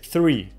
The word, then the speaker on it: three: Далее, three, три. Вот это числительное косячат практически все. То есть тут мало людей, которые грамотно его произносят. Сразу, давайте разберемся. Читается оно, начиная т, язык между зубами, т.